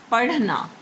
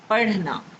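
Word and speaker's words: پڑھنا: But you will pronounce these together like R, R. For example, a word is padhna, padhna.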